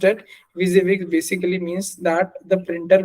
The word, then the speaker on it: WYSIWYG: ठीक है, एंड WYSI इज फॉर stand for what you see is what you get, is pronounced at WYSIWYG, basically means that the printer will print what you see on your monitor.